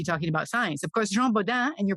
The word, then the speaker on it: Jean Bodin: they were busy talking about science of course Jean bodan and your pronunciation was perfect is principally known as a